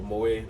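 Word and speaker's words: Moët: It's Moet, not Moet or Mawet. Yeah, Moet. Moet. Yes. So the T is silent.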